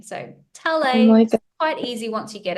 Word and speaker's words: Talei: it written on paper it's spelled t a l EI but I've had that really throws up some interesting um pronunciations so I've had t t tail ey so it's it's I'm